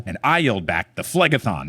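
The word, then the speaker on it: Phlegethon: When Kelly was talking to me about these chapters and she was mispronouncing Flegthon and I was like flegathon like you just sound so cool busting it out.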